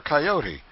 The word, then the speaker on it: coyote: rightly this latter was the regular coyote pronounced coyot of the farther deserts